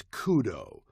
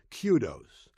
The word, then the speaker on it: kudos: there is no such thing or word as Kudo Kudos K do oos is a singular noun meaning praise and it is properly pronounced Kudos there is also a plural form spelled the